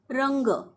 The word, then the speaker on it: रंग: एन के ए डंका रंग रंग या शब्दाची फोड केली आहे र र वर अनुस्वार रंग आणि शेवटी पाय मोडलेला ग कारण शेवटी अ चा उच्चार होत नाही म्हणून आपण शेवटी अ लिहीत नाही र ला इंग्लिश मध्ये